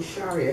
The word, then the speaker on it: Sharia: that the same okay because I know they pronounce it Sharia all the time instead of Shar yeah Shar is the yeah the correct pronunciation yeah the Arabic what's